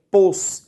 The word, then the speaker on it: posposto: pós ou seja tônico a pronúncia de posposto é pôs o fraco beleza então a diferença